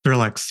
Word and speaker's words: Thrillx: So with your company Thrillx, and I'm pronouncing that correctly, right? Thrillx? Yep, Thrillx.